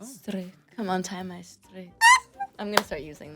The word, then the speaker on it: strik: How would you say bow? Strik. Strik? Oh, wow. Natural. Strik. Strik. Is my accent okay? Yeah, it's very sensual. It's like, oh, Strik. Come on, tie my strik.